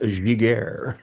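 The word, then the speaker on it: Giguère: And if you're wondering, folks, it's pronounced Giguére.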